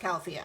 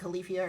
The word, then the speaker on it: Califia: Brands califia they made a whole video It's pronounced califia I know it looks like califia or something that's not how you pronounce it